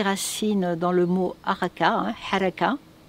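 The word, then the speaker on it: حركة: Alors le mot harki trouve ses racines dans le mot haraka, haraka, pour le prononcer en arabe, parce que c'est un mot arabe, qui veut dire mouvement.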